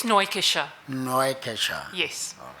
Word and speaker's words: Neukircher: Neukircher. I'm very well, thanks, and you? Just switch on your mic and just correct me. What is the correct pronunciation of your surname? It's Neukircher.